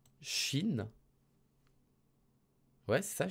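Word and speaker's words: 心: Le cœur, ça se prononce Shin. Ouais, c'est ça, Shin.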